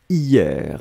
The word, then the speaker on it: hier: à la recherche de hyères 1 souvenez vous on l'écrit avec un h mais le h est totalement muet yeah yeah yeah il